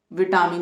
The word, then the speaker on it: vitamin: Okay, now come to fourth word and इसका हिंदी में मतलब विटामिन ही होता है। तो ब्रिटिश इंग्लिश में 3 syllable वर्ड है दोनों में।